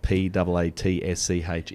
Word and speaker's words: Paatsch: I checked before we started, that your surname spelled P-A-A-T-S-C-H is in fact, we'll phonetically say that it's Paatsch.